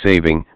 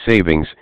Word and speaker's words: saving: the time change and why it's saving not savings as often mispronounced what is Daylight Saving